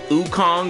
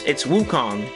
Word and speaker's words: Wukong: But yeah, I don't expect Sun to come into the game, but they did mispronounce his name. They said like Sun Wukong or something, and it's Wukong, and they mispronounced his name.